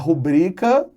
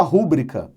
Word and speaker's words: rubrica: Por exemplo, quando você fala a rubrica, é o correto, mas você fala, deixa aí sua rúbrica. Silabada.